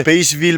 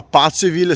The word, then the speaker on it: Paceville: Sono più o meno le 3, stiamo tornando a casa da Pazzeville, perché non si dice Paceville ma Pazzeville, sì lo so, è un po' strano.